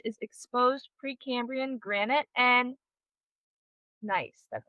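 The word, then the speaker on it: gneiss: Um And then the core structure, so the the heart of the range is exposed Precambrian granite and nice.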